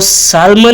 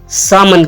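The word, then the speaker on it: salmon: गलत प्रोनाउंस करते हैं इस में एल साइलेंट होता है इसको सालमन नहीं कहेंगे सामन कहेंगे सामन क्या कहेंगे सामन नेक्स्ट हमारा वर्ड है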